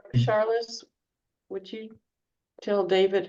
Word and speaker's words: Charlotte: It's Charlotte. They were struggling with pronouncing my name, and I said, well, David's a really sensitive guy, and he's known me for a while, and he still says Charlize, so don't worry about it. Say it again, Sorry, please. I didn't want to correct you, David. It's Charlotte. oh, so I've been saying it wrong the whole time.